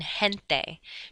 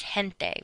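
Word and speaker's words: gente: like a hard G if g e or G is is in a combination together then it's pronounced like the letter H like in hente g n te is hente which means people but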